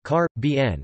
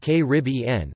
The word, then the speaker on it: Caribbean: for over 75 years it has been suggested that speakers of British English prefer carp bien while North American speakers more typically used que rib en but major American dictionaries